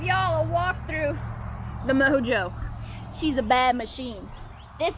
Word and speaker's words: Mo Jeaux: here in the south EA u X is pronounced Oh so for some y'all it's not mojo it's not mojo wah it's mojo real simple well I think it is so you know mojo it doesn't come from